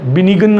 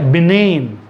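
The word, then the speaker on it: benign: example assign, assign, बिनेन, ये बिनिगन नहीं है, ये है बिनेन, बिनेन, कैंपेन, डिज़ाइन, फीन,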